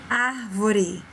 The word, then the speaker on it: árvore: Próxima palavra, árvore, xícara, família. Observa que fica forte e um som aberto.